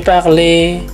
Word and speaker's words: parlé: Misalnya, "j'ai parlé," "chanté." " Elle a étudié," ya. Jadi, semua kata yang berakhiran huruf E dengan aksen aigu diucapkan "ay."